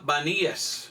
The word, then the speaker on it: Banías: Banías es el nombre de un lugar aquí cerca, pero en realidad es panías. Pero los turcos se llama, los musulmanes no pudieron pronunciar la P. Entonces ellos llamaron este lugar Vanías.